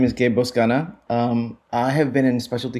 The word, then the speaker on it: Boscana: Gabe, and I want to make sure I'm pronouncing this right. Is it Boscana? Boscana.